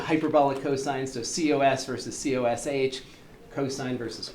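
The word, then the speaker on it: cosh: cosine so cos versus coosh cosine versus kosh there's no standard for the pronunciation of these hyperbolics some people will say k some people will say kosh and then the the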